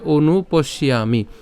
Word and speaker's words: অনুপশ্যামি: হয় অচ শ্রেয় অনুপস্যামি এখানে কেন অনু এটা যে হ আছে এটা হচ্ছে অর্ধমাত্রার হ যার উচ্চারণ অ এর মত তাইলে কি হবে অনুপশিয়ামি এখন পশিয়ামি কেন এখানে